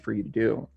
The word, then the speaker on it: Ibiza: time in spain in a place called abby's ibiza that's how they say it i think it's